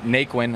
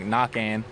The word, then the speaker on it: Naquin: it's uh you know people say it naquin and they attempt naquin but the real pronunciation is right Joey was saying you know I told him that it's knocking and it's just Kate you know it's just French so it's really got like knocking but whenever announcers and